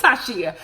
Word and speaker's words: Tayshia: It's Tayshia.